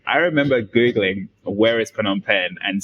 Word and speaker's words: Phnom Penh: remember Googling where is Phnom Penh and spelling it wrong uh the silent h and when they told